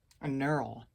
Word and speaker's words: knurl: It's a knurl with a silent K, I think.